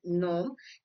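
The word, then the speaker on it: gnome: When these letters are followed by the letter N in a word, it can be treated like the words just starting with an N.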